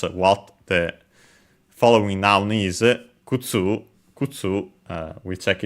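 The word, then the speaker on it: 靴: Yeah, Kutsu is accented on the last syllable, so it was correct.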